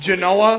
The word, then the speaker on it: Genoa: By the way, it's pronounced Genoa.